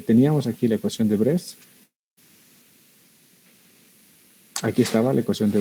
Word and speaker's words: Bresse: De Bresset también le puedes decir. Bresset es en francés, entonces no se pronuncia la E, se dice ecuación de Bress.